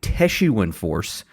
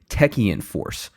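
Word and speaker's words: Techeun Force: I said Teshuan Force, and it is actually Techian Force.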